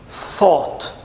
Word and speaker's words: thought: the age think P thought Ok vamos fazer mais uma vez Então aí ó com som de T com som de f thought e com som de TH thought i thought i thought